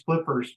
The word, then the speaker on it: Flypperz: So we've done 2 episodes, and that's the Finders Flippers podcast, but it's spelled FYNDERZ, and then Flippers is FLYPPERZ.